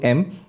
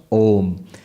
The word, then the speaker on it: Om: that's not correct because by the rules of sanskrit grammar when you bring a and u together it becomes o so om is the correct pronunciation pronounced together becomes om now what the upanishad